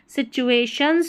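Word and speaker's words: situations: सी चूहे, टी यू ए चूहे करके पढ़ेंगे, सी टूए नहीं पढ़ना, सी चूहे। Shuns, T आई ओ एन S shuns, सिचुएशंस पढ़ेंगे, सिचुएशंस नहीं पढ़ेंगे, ठीक है। यहाँ पर टी का उच्चारण च करके है।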